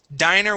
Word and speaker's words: diner: the difference dinner with a short eye two ends diner with a long eye so let me uh